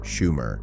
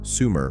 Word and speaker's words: Shumer: This ancient civilization called their land Shumer, the land of the Watchers. Western scholars later simplified this to Sumer for ease of pronunciation.